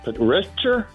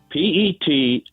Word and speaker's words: petrichor: Is it Petrichor? Say it again. Petrichor.